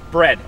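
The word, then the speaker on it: Bredd: partner bread right it's bread actually oh bread like the food no it's b r e d d the second D is silent oh that was the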